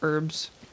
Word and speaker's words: herb: the H in herb, which I know it's an American thing that we don't say the H, but still.